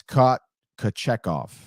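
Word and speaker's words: Kochetkov: And also, I've been mispronouncing. It's not it's Kochekov.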